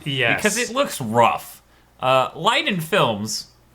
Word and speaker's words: Leiden: Leiden Films, which is how I'm going to pronounce that, it's Liden.